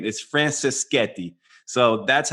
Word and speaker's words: Franceschetti: fake American Italian but uh Mato and the pronunciation of his last name is Francis Sketti so that's how you say his name Matteo Francis Sketti and he is the founder co-founder and CEO